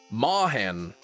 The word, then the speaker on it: moorhen: Mahen. A mahen. I mean, could you understand why I might think that M-O-O-R is pronounced moor? Oh, with a British, so it's moorhen.